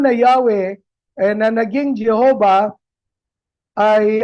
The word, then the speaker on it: Yahweh: Kinikilala po nila na ang tamang pronunciation ng YH WH ay hindi po Jehova kundi Yahwe.